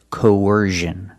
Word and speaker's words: coercion: the other one used I've only heard this pronunciation used with the z sound so it's coercion the first vowel is a long o like no and go co then you have the UR sound like in Burger when we link these